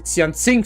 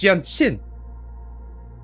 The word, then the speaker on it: Jianxin: Dann hast du Xianxing falsch ausgesprochen. Das heißt nicht Xianxing. Warum ist da ein Z? Da steht ein J, die heißt Jianxin.